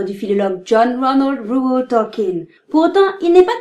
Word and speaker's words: Tolkien: Oui, je dis Tolkien, car c'est ainsi que son nom est prononcé dans son pays.